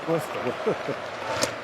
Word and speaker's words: Worcester: Worster.